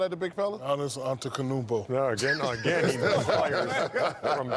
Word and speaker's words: Antetokounmpo: Pronounce Giannis's last name. Giannis Antetokounmpo.